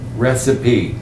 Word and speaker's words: recipe: It looks like it should be receipt, Receipt. not Recipe? recipe. Recipe. Recipe. Yeah. Like two words. Recipe. Recipe. Three. Recipe. Three syllables. Recipe. Three syllables. 3 syllables, 3 sounds.